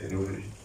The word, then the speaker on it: téléologique: Non, non, téléologique comme la télé. Pas théologique. Hein. Donc, téléologique, comme ça se prononce, il n'y a pas de H, il n'y a pas de Y gâché, tout ça.